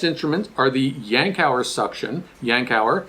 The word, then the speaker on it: Yankauer: are the yankauer suction yankauer is how you pronounce this we have the plastic